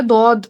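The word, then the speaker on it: ضاد: মুখের মধ্যে দদ, একটা ভারী ভাব, তাই না? হ্যাঁ, হ্যাঁ, দদ, বদ। দদ। হ্যাঁ, শেষে ওই যে সূরা আপু শেষে বাতাস বের করে ফেলা যাবে না। বদ। দদ, কারণ দদ উচ্চারণ করে শেষে দাল আছে, তো দাল তো আবার কলকলার হরফ, হুম।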